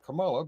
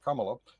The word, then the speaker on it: Kamala: We can't have Camala because Kamala uh because they're too uh too Oh, yeah.